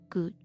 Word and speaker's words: could: Recuerden que el modo should, igual que could, no se pronuncia la L. Should, could, should, could.